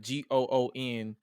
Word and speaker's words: Gunther: And if you follow him on Twitter, he's the reason why I pronounce it Gunther, like Goonther, Gunther, and not Gunther, because of Malcolm Bivens.